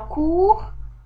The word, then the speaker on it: court: Par exemple, on a court, il a un T muet, courte au féminin.